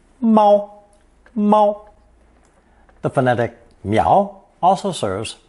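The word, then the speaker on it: 猫: Seedling phonetic we get the common character for the cat pronounced first tone MO the phonetic meow also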